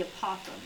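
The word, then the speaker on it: apothem: its side is called the APO it rhymes with a possum which is a small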